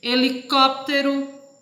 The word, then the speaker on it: helicóptero: Helicóptero, que é a sílaba forte, é o có.